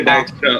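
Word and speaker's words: Dijkstra: ডিজক্স্ট্রা। যাই হোক, এটা ডিজেক্স্ট্রা, সাইজেরটা নাকি? এটাকে ডায়াক্সট্রা উচ্চারণ করে আর কি, ডায়াক্সট্রা, ঠিক আছে?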